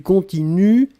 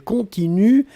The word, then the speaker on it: continuent: prononcez je continue, tu continues, il, elle continue, et ici, le pluriel, il continue, U-E-N-T. On écrit E-N-T, on ne prononce pas.